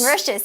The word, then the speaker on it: Mauritius: Mauritius. Mauritius, yes, that's right.